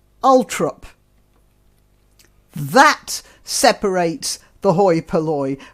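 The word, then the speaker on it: Althorp: of princess diana uh it's spelt alphorp a-l-t-h-o-r-p alphorb house and is pronounced by the family as ultra that separates the hoi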